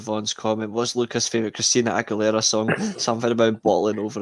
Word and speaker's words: Christina Aguilera: Christiana Aguilera, mate. She would run with your midfield, mate, by the way. Christina Aguilera. That's how you pronounce her name.